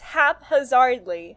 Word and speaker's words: haphazardly: It's haphazardly, not... the P and the H are from a separate syllable.